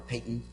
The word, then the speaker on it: Paton: To my left is Metta MacMillan-Hughes, who's a litigation partner with Lennox, Paton, or Paton, pronounced properly, LXP, as some of us call it, in the Bahamas.